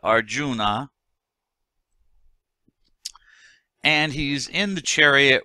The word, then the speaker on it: Arjuna: guy whose name is Arjuna Arjuna sometimes pronounce our June but Arjuna and he's in the